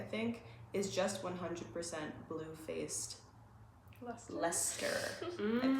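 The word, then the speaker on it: Leicester: BFL sock, I think, is just 100% bluefaced leer. I pronounced that wrong in the last video.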